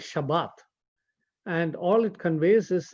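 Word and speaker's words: שבת: The word Sabbath, interestingly, is a word that is found mainly in the Hebrew and the Aramaic, and it's pronounced in the Hebrew as Shabbat.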